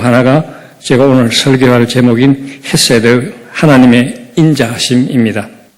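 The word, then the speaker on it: חסד: 제가 오늘 설교할 제목인 헤세드 하나님의 인자하심 있니다 정확한 히브리 발람은 했어야 돼 저 목 뒤에서는 어 러 사운드인데 우리 한국 사람들이 잘 발음하기가 좀 어려운 그런 발음입니다 일반적으로 영어를 영어로는 그냥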